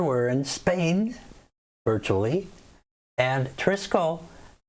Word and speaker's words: Trisquel: in spain virtually and trisco again or triskell i guess is probably the exact pronunciation so i'll try to